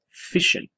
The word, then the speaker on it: fission: middle is called nuclear fission. Okay, so it's spelled like the word mission, but with an F. Okay, and so it means basically splitting. Okay, so fission refers to splitting.